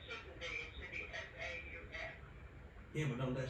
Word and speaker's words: faux: Right, I heard you S-P-H-S, but how do you pronounce it? It's pronounced faux.